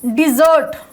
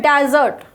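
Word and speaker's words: desert: Area जो रेगिस्तान है, नाउन में होता है तब इसका प्रोनाउंसिएशन होता है डेजर्ट। क्या होता है, डेजर्ट, रेगिस्तान। और जब ये वर्ब बनता है, वर्ब, तब इसका प्रोनाउंसिएशन होता है डिजर्ट, यानी लीव कर देना, त्याग देना, छोड़ देना।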